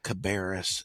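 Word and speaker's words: Cabarrus: And I'd have to, you know, being a producer, I have to get in their ear and politely say it's pronounced car uh Cabaris and Rowan.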